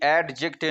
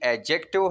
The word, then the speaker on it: adjective: ये एडजेक्टिव नहीं है, ये एडजेक्टिव है, और जो डी जो है ये यहाँ साइलेंट है।